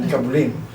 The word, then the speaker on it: Nikabulin: Kasi I asked him that kanina, ano ba ang pronunciation? Nikabulin or Nikabulin? Sabi niya, Nikabulin.